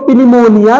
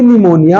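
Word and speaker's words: pneumonia: तो पनिमोरा लिखा है पनिमोरा नहीं बल्कि निमोनिया होता है तो सर ये तो पनिमोरा हियर प is silent because P here comes in the combination of प एंड एंड the rule says when प comes in the combination of पी N then P become silent okay so this is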